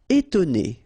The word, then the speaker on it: étonner: Étonner. Okay, so first you've got this accent aigu, et, and then you've got to, and then né. Étonner.